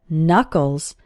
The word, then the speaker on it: Knuckles: your hand are called Knuckles the first K in this word is silent and if you hold